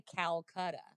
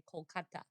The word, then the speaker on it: Kolkata: But if you go to India, they say Kolkata. And so Calcutta is the colonial name, and Kolkata is the less colonial name, right? So that's why when you go there, they don't say Calcutta, they say Kolkata.